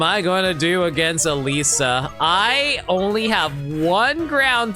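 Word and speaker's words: Elesa: So, it's be ela, but apparently you have to pronounce the e as an i for some reason, and that throws me off so hard.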